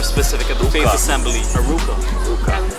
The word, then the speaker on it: Aruca: Aruca. Did I say it wrong? No, you No. Did I say it wrong? No, you didn't.